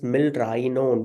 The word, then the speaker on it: milrinone: To prevent the confusion, just always pronounce these drugs as milrinone. We have an I there. Milrinone.